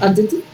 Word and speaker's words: adjective: De hecho, la D de dedo no suena.